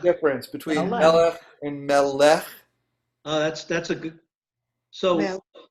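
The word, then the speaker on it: מלך: Melech. Not melech, right? Melech. Here's the difference between Melech. melech and melech. That's a good. So Melech. so the emphasis is on the M. So it's melech.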